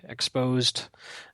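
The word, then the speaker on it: XSSposed: org exposed uh you know basically cross-site scripting POS but pronounced exposed.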